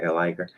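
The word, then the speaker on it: Elliger: That's how you say it, Eliger.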